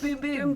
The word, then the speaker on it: Bum Bum: boom cream thank you spelled bum bum which I much prefer actually but you say it boom boom boom boom Brazilian bum bum cream